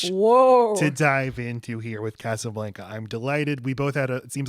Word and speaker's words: Casablanca: There's so much to dive into here with Casablanca.